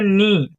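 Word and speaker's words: knee: तो आगे देखते हैं यहां पर के एन डबल ई इसे हम पढ़ेंगे नी क्या पढ़ेंगे नी पढ़ेंगे के साइलेंट है क्या है साइलेंट तो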